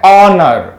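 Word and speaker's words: honour: ए गया ना तो जब जब हा के बाद ओ आता है तो हा को साइलेंट कर दिया जाता है तो क्या बन जाता है ओनर क्या बन गया ओनर ओनर में ओ से शुरुआत करेंगे इसीलिए हम यहां पर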